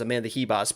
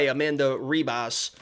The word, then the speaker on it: Amanda Ribas: know what's funny is it's supposed to i know that's like the portuguese way to pronounce it as amanda hibas but she said in a video one time hi amanda ribas actually in this video